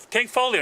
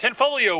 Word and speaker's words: Tanfoglio: the Range rolling see tank tank folio not the g is silent ten folio witness stock to woohoo